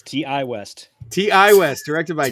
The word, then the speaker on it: Ti West: right prob say it it's TI West TI West directed by